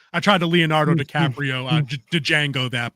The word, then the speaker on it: Django: tried to Leonardo DiCaprio Django that but the D was silent I couldn't do it sorry yeah the D is silent Django J I